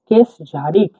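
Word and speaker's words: кеш жарық: আই কে জে এ আর আই কে জারিক কেস ঝারিক কেস ঝারিক এই এই এটা কিন্তু যে এইচ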